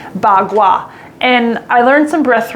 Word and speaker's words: bagua: martial arts uh called bagua now i'm going to spell it for you p a dash k-u-a pronounced as a b and a g bagua and i learned some